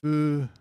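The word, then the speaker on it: 不足: This is fusoku, fusoku, fusoku, 不足 fusoku, fusoku.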